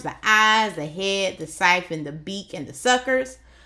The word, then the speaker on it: siphon: And notice how I said siphon, because the author gave me a clue right here to let me know how to pronounce it. S-Y says si, F-U-N says fun, siphon, siphon.